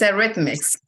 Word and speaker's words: Eretmis: How is the name of the school correctly pronounced? It's Eretmis. Eretmis Academy.